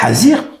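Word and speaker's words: חזיר: c'est soit le porort le hazir comme il se prononce hazir ou bien le Hamor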